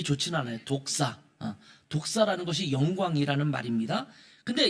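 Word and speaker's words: δόξα: 근데 헬라어로는 좀 발음이 좋지는 않아요. 독사.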